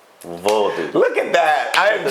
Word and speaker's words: Vodou: Not voodoo, Vodou.